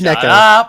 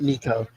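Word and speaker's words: 猫: Nico, I think it's Neco, not Nico. Nico would be like the weird American pronunciation.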